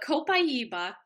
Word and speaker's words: copaiba: starter kit let's start with the first oil copaiba um often mispronounced uh but copaiba is an oil that most people haven't heard